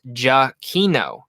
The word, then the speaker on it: Giacchino: Michael Giacchino told us in Downtown Disney that it's pronounced Giacchino.